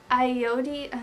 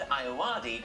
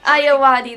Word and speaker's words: Ayoade: Richard Ayoade?